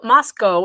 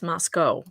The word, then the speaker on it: Moscow: kernodles timeline Moscow Idaho Moscow it's not Moscow I keep saying that but it's Moscow that's how they say it there Moscow Idaho police are